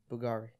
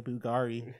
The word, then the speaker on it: Bugatti: Bugari. Why are you saying Bugari? How would you pronounce it? That doesn't exist. Bugatti. I don't know what a Bugari is.